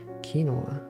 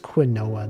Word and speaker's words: quinoa: of not quinoa oh right that's how you pronounce it kinoa it looks like it should be pronounced quinoa though strange words are weird play your